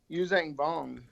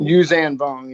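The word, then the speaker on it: Yuuzhan Vong: Well, Palpatine foresaw the Yuzang Vong. Is that how you say it? What? The people that were coming to take over. Yuzan Vong? Yuzan Vong.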